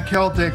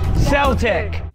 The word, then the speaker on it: Celtic: And so, while we've adjusted our pronunciation of the word Celtic when talking about music or language or culture, it should be no surprise that the two places the legacy of Celtic with a soft C live on is with